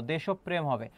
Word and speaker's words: দেশপ্রেম: এবং এর পাশাপাশি আরেকটা বিষয় খেয়াল করবা, এই যে দেশপ্রেম আছে এটি হচ্ছে এর উচ্চারণটা কি হবে, পরীক্ষা আসতে পারে। এটা রাবির জন্য গুরুত্বপূর্ণ, দেশপ্রেম হবে। অর্থাৎ যার সঙ্গে রফলা থাকে সেই বর্ণটি দ্বিত্ব হয়। পয়ের সঙ্গে আছে প 2 বার হবে উচ্চারণ। কি হবে খেয়াল করো, দেশপ। যেখানে থামে এবং কোনো কার থাকে না সেখানে হয় চিহ্ন, আর বাকি হবে কি বলো তো, প্রেম হবে।